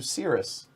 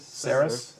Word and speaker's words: Ceres: Instead of down here in the inner solar system, I can go out to Sirius I think it's Cirrus, right? Is that how you pronounce it? Ceres. All right.